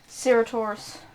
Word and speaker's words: Ceratosaurus: And there is the Cretiosaurus, which is an Oh, how do you aquatic spell that carnivore. one? Ceratos C-E-R-A-T-O-S-A-U-R-S. AUS. Ceratosaurus.